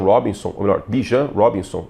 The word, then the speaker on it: Bijan: E sem essa ignição terrestre com Ban Robinson, ou melhor, Bijan Robinson, ele pede para que a pronúncia seja assim, né? Em inglês seria Ban Robinson, mas é Bijan Robinson, tipo biju. Biju, um negócio muito bom, inclusive gosto de biju.